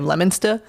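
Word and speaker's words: Leominster: But I'm from like the Massachusetts area where like we have Lemonster and that is not how it's spelled.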